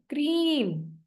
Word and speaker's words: क्रीम: लिख के दिखाती आपको क्रीम इसके स्पेलिंग जाएंगे आपके इंग्लिश में क्रीम क की आवाज और र जैसे न नाक से आवाज आ रही हो ठीक है क्रीम सुन